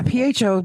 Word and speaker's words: pho: Yeah, PHO being pronounced pho fucks with me so hard. It should be faux, if anything. Or it should be po.